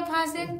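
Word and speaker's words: fasten: आ गया तो लिसन उसी तरह एफ ए फास और टी साइलेंट है तो ई जो है इसके साथ आ गया तो फास पान पूछिए हमसे ना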